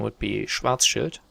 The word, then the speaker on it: Schwarzschild: how the german pronunciation is the quite correct pronunciation would be schwarzschild but that sounds weird putting it in an